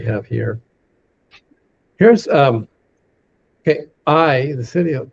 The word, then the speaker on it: Ai: And when the children of Israel then came next to I, most people say Ai, but it's a it's a dip thong. I is the way it's pronounced.